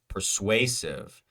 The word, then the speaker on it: persuasive: our only option persuasive persuasive pers U asive the way way way is our is our vowel uh stress syllable persuasive again curious we know